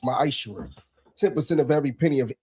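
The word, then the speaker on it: מעשר: Means 10th in Hebrew, and it's pronounced ma'ashur.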